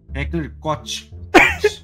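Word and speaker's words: Heckler & Koch: Heckler e Koch. Tá certo, general? Se o senhor pronunciar errado, o senhor pode me corrigir, por gentileza? Qual a pronúncia, Guia? Heckler e Koch.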